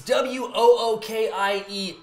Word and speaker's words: Wookiee: Well, you spelled Wookiee wrong.